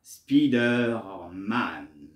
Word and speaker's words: Spider-Man: en français la PR la prononciation populaire prend le plus souvent la forme francisise voilà Spiderman qui diffère le prononciation anglo-américain Spider-Man donc voyez il y a entre le français et l'américain il y a une façon différente de prononcer le nom de ce personnage dans les comics les